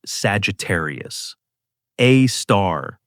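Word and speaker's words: Sagittarius A*: The black hole at the center of our galaxy is called Sagittarius. A star, pronounced Sagittarius, a star.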